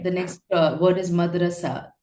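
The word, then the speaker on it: مدرسة: The next word is madrasa. Madrasun is the right way to pronounce it because it means a school.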